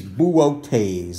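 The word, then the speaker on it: Boötes: enthusiasm this one is boooo taze let's all try that or make bouquets so it looks like booties but this is pronounced boo like a ghost and then okay's in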